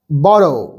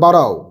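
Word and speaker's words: burrow: A rabbit in ইটস বড় বারও মানে বুড়ো নয় কিন্তু উচ্চারণটা বারও এ র‍্যাবিট তাহলে এই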